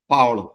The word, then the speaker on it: Paolo: you and uh first of all am I pronouncing your your name correctly Paulo perfect Paulo yeah Paulo exactly okay